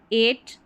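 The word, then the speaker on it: eight: तो यहाँ पर है 8, EIGH ए, इसको ए पढ़ा, और T है इसलिए ट।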